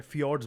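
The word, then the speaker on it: fjords: और फाड ठीक है फिड्स बुलाते हैं इसको जे जो होता है वो साइलेंट होता है आई भी हो सकता है जे ठीक है कोई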